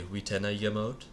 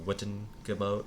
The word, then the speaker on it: Witenagemot: And this is the Witenagemot, or the Wittengemot, as you might know it if you're less familiar with Anglo-Saxon pronunciation. And this was essentially a council.